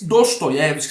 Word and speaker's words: Dostoiévski: Da Tanto é que eu não falo da Stabsk, eu falo Dostoyevsk, não é? Não tem problema se você quer falar no russo, na pronúncia russa, mas eu vou manter aqui o nosso português Dostoyevski, está ótimo, né?